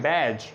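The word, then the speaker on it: badge: पहले अगर डी आ जाए तो डी भी साइलेंट होता है। अब डी की एग्जांपल्स देखते हैं कौन सी हैं। जैसे आ जाता है डी है बैज, इसी तरह एज और हेज और इसी तरह वेज।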